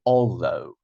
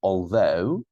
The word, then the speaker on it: although: So across, after, again, along, second syllable, although, I'm not saying although, you have to say although, second syllable.